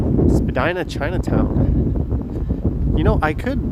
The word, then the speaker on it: Spadina: oops sorry troy you are correct it is pronounced spadina there's the johnny strides tower currently the tallest